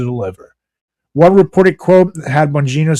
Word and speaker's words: Bongino: Meanwhile, former conservative firebrand and FBI official Dan Bongino, or Bongino, I always forgot how to pronounce his Bongino. name. Yeah, Bongino.